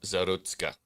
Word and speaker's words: Zarutska: I don't know how to pronounce her last name. Does anybody know? Irina Zarutska.